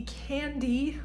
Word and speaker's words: Cande: is my one fo this is the candy pullover that's spelled c-a-n-d-e pull over by Sandra Gutierrez